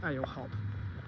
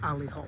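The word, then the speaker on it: Ale-Hop: It's pronounced alehop, but it's it's actually pronounced alihop, but it looks like ale hop.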